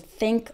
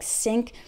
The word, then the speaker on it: think: When I hear someone pronounce these and those with a D sound, like D's and does, or pronounces think like sink, that's a giveaway.